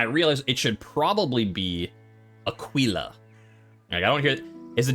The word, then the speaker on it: Aquila: Caesar type of Latin it'd be Aquila there you go wouldn't it be Aquilla no eyes are always pronounced as e basically all vowels only had one pronunciation you're like I don't